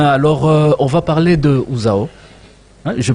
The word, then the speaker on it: UZAO: vous bien bien alors on va parler de ouzao hein je prononce bien le nom oui zaoo usao ou ouzao ouzao de quoi s'agit-il ouzao c'est une association qui